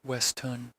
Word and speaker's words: Weston: Beatrice checked into the grandiose last night under an alias, Clara Weston, pronounced Westun.